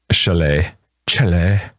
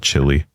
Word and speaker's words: Chile: not saying it right. Chile. My kids get mad because kids at school call it chili. Even I give the Chile, I don't say chili anymore.